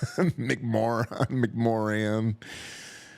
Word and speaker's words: McMoRan: It's like moron. McMoran.